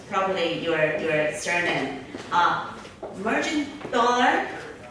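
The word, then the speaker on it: Mergendoller: I don't know how to pronounce properly your surname. Mergendollar? Mergendollar.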